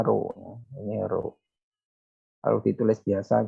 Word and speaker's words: rho: Nah, ini bacanya rho.